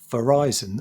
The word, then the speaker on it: Verizon: was uh pronounced and it's Verizon as in Horizon.